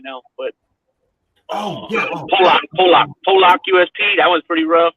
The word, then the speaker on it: Pollock: I think it's called Pollock, right?